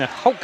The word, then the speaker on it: Hoke: Keaton Hoke, I guess is how you say that, right, Jerry? Yes.